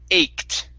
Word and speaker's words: ached: right very nice uh this word here is pronounced ached okay with the k sound and a t at the very end eight ached okay very